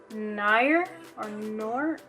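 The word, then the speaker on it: Noir: It's Nior or something like that. It's spelled N-O-I-R. And this is very similar to the NYC liquid liner.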